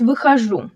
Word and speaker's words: выхожу: Notice выхожу. The stress is on the last syllable, выхожу.